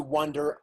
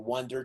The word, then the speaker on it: wander: That's to wander off or wander to another place. Wander, just like walk without destination. Wander. That's with A, and it's a big vowel, wonder.